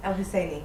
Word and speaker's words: El Hosaini: Mister, we're here at the Berlinale Film Festival with Sally El Hosaini. Did I pronounce it right? Yeah, El Hosaini.